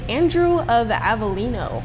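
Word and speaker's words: Andrew Avellino: who we talking about Saint Andrew of avelino I believe that's pronounced and we're trying to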